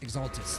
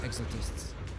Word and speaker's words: Exaltists: Okay, and also it's pronounced Exaltists, not Exaltists. Oh, shit.